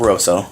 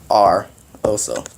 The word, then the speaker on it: Rosso: My name is not Rosso. It's not Rosso. It's R. Oso. I know you guys pronounce it wrong.